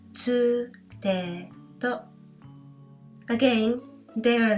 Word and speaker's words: つ: This is not tu, since there's no tu sound in Japanese. Instead, we have tsu. So the pronunciation of this letter is not tu, it is tsu.